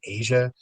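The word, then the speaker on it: Aja: I knew that people pronounced it Asia, so that's And I don't listen to Steely Dan.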